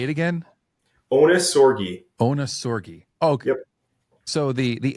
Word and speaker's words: Ohnesorge: pronounce your last name so it's actually German like the German